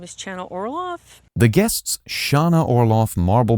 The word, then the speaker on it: Chana Orloff: Her name is actually pronounced Chana Orloff.